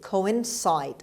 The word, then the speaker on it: coincide: coincide the stress is on the third syllable on c the second c coincide on c sound means occupy the same place